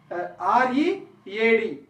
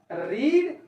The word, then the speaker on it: read: Coming to this R-E-A-D. This word is pronounced as read or read.